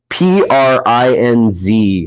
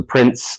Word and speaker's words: Prinz: um and it's uh p-r-i-n-z actually prinz and then uh kleiner k-l-i-n-e-r i know i i thought it was exactly how you spell it the prince like prince charming climber like hiking uh sword too uh